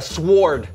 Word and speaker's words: sword: Okay, I'm gonna go with a sword. Okay, the W is silent.